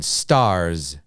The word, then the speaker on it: stars: okay 18 stars okay so with number 18 at the end we hear this z stars z z we hear this sound stars okay so it has a z sound at the end now it's strange because the letter is actually an s um so keep in